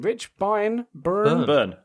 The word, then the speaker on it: Byrne: How do you pronounce that surname? Rich Byrne? Burn. It is Burn.